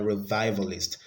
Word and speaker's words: revivalist: on the second syllable a revivalist the stress is on the second syllable the olive oil the